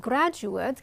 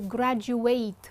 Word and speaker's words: graduate: ways and that's because we pronounce the noun in a certain way but the verb in a different way so we say for instance to graduate from University and that's